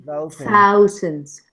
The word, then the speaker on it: thousands: No. O sea, no la hagas vibrar. Porque hay otras palabras que sí hacen vibrar la v. Por ejemplo, that, this. This. Eso sí. Pero esta es silent. Pero sí importa. Entonces, thousands. Thousands. Thousands. Thousands. Deja que pase el aire.